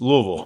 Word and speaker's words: Louisville: It's It's one syllable if you say it right. It's Louisville.